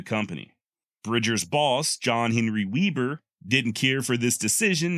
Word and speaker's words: Weber: web Webb R and Weber is how his modern descendants pronounce it the German born Weber